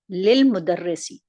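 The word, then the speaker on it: لِلْمُدَرِّسِ: Examples, li plus al-mudarrisi becomes lil mudarrisi, and li plus at-talibi becomes lit talibi.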